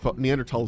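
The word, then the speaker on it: Neanderthal: people with heavy neander neander tal DNA um by the way it's tall because it's a German word and they don't pronounce the th's like that in the ends of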